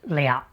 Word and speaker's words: 了: When pronounced le it can also mean to accomplish or to finish.